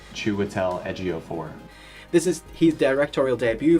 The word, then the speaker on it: Chiwetel Ejiofor: and a bunch of other places how to pronounce his name properly because I wanted to get it right. Chiwetel Ejiofor.